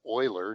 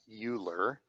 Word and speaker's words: Euler: picture of leonard euler he pronounced his name euler not euler leonard euler was a